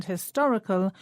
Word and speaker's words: historic: We pronounce historic and historical with the stress on the same syllable in both words, the to.